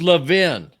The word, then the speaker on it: Levin: So, uh Robbiey's saying Lavin. N that's He's What is it, Robbie? Maybe he's mispronouncing his own name. You know, some people do mispronounce their own names. It's It's Lavin. Lav.